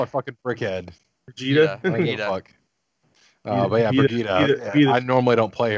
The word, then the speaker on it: Brigitte: I hate when everyone fucking says her name wrong. Brigitte. Look, that's why I always just call her fucking Brickhead. Brigitte.